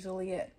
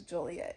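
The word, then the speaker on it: Joliet: kept calling our city juliet our city is not juliet it is juliet and we all have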